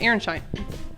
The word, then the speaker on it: Aronszajn: So I've written on the on the blackboard that Aaron Shine and it's actually pronounced Aaronshine.